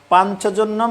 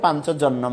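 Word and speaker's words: পাঞ্চজন্যম: এবার আমি সুদ দিয়ে বলছি ধর্মক্ষেত্রে কুরুক্ষেত্রে বেতা উৎসবহ মামকা পান্ডবাচব কিম কুরবত সঞ্জয় হরে কৃষ্ণ শ্লোক পাঞ্চজনম ঋষিকেশ দেবদত্তম ধনঞ্জয় পন্ডম দম মহাসংকম ভীমকর্মা বিকদরাহ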